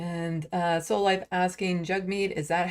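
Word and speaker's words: Jagmeet: this cutesy little thing to say it's jug like hug which is kind of adorable so jug like hug and meat so it's jug meat Pierre POV knows how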